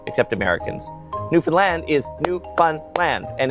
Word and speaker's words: Newfoundland: The big city in Ontario is pronounced Toronto. Nobody says the second T except Americans. Newfoundland is New Fun Land.